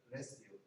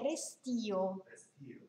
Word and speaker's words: restio: All'inizio è restio. Sì, la pronuncia è restio.